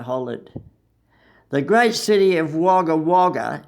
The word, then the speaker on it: Wagga Wagga: "Wagga Wagga," I hollered. The great city of Wagga Wagga is pronounced by the whole world except me, Wagga, just one word.